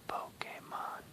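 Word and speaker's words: Pokémon: That's pronounced Pokemon.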